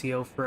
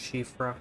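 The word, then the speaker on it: Siofra: River well you know even though it looks like it's pronounced Co for that's actually pronounced shifra I think it's Gaelic anyway let's see real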